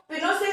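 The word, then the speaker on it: Pinochet: और ये सब जो हुआ 11 सितंबर 1930 को सारा कुछ, तो मिलिट्री के जो जनरल थे ऑगस्टो पिनोस थे, ठीक है, इसको प्रोनाउंस किया जाएगा पिनोसे।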